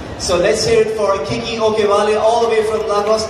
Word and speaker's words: Kiki Okewale: And, well, she really insisted that I pronounce the name right, Kiki Okewale.